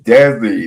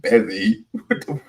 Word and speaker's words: Desi: It's Desi, not Bezzy.